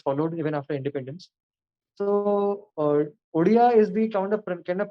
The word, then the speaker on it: Odia: So Odia is the kind of pronunciation which is found in the local language, sir.